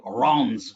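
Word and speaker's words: Reims: area is called are it's spelled r-e-i-m-s and i thought that was out of reams but it's actually iran's in french it's wrong and here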